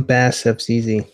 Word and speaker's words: BaSSFZz: are real quick uh I'm bad steps easy that is how you correctly pronounce my username that's easy yes that's